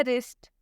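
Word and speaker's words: wrist: रैप, रैप में भी R से पहले W आया है इसलिए W साइलेंट होगा। रैप का मतलब होता है लपेटना। एक और लास्ट एग्जांपल है रिस्ट, रिस्ट में भी आप देख सकते हैं कि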